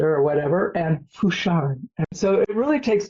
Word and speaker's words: Fouchard: Fouchard, yes. So I usually try to pronounce the pretty German, because that's the German part, and the Fouchard more French because it's the Haitian name.